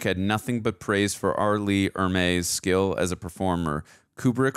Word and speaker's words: Ermey: In an interview for the DVD, Ermey, there we go, said it right this time,